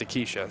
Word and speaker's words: Acacia: put it back in it's spelled like acacia and I think they're saying it's a Keisha so we might go